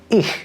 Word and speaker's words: ich: Now, my best trick for this sound for English speakers is to say the word "hue" very slowly. Here, listen to me do it. Hue. Hue. Hue. You hear that? That sound at the beginning of hue, which to me sounds kind of like an air mattress with a leak, is exactly what we're going for.